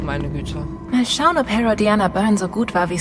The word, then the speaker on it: Herodiana: Herodiana, okay. So wird's ausgesprochen.